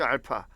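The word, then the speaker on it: α: 그러면 일반적으로 px를 x 빼기 알파, 요거 알파라고 읽습니다. 알파. 이거 아직까지도 이거 a라고 읽는 친구들이 많더라고요.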